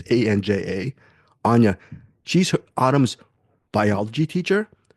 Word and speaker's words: Anja: Following her is Anya, or Anja, I don't know how to pronounce the name. It's Anja.